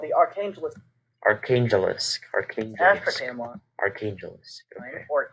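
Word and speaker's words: Arkhangelsk: I'm trying to find out how to pronounce that. Setting up a defensive position called the Archangelsk.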